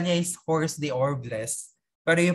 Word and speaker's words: hors d'oeuvres: sa kanila is mga, yung spell niya is hors d'oeuvres, pero you pronounce it hors d'oeuvre, pronounce hors d'oeuvre.